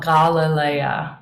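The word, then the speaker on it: Γαλιλαία: Galilee so Galilee got Galilea would be the Greek pronunciation this one what who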